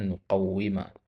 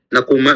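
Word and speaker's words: نقوّم: Nah, ini bacanya nuqawwima ya. Ya, an nuqawwima Bukan aku mau saja, nakuma bukan ya?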